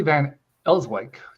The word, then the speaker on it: Van Elswyk: So we're welcoming Julie Van Ellswick. Did Did I pronounce that right?